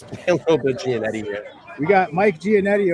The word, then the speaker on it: Giannetti: Oh, you do pronounce it Giannetti. I've been saying Giannetti.